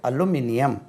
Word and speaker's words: aluminium: உச்சரிப்பு எப்படி? அலுமினியம். ALUMINIUM அலுமினியம். நம்ம அல்மோனியம்னு சொல்லி அலுமினியம். அலுமினியம்.